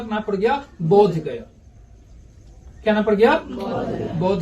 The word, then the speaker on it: बोध गया: यहां से बुद्ध गया, बुद्ध गया से उच्चारण क्या हो गया? बोध गया।